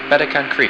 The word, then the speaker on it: Beta Cancri: Cancer's brightest star is pronounced Beta Cancri, and Leo Minor's brightest star is pronounced 46 Leo Minoris.